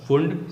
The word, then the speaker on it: Pfund: Here P is silent, इसलिए इसे कहा जाएगा फुंड सीरीज।